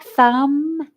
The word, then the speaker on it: thumb: does that look like thumb to you there's a letter on the end that is silent do you know what it is a b very good what do